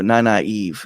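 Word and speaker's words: Nynaeve: And also, naive is the proper way to say that name.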